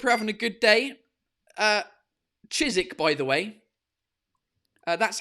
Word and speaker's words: Chiswick: Fuller's Brewery is an English brewery brewed in Chiswick, London. Fucking London, mate. Yeah, fucking Chiswick. Do you know what I mean? So, cheers, everyone. Hope you're having a good day. Chiswick, by the way. That's how you pronounce it, les Français.